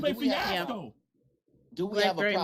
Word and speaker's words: Lupe Fiasco: No, wait, you ain't saying it right. It's Lupe Fiasco.